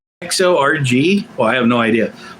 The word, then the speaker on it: Kharg: It says Persian pronunciation XORG.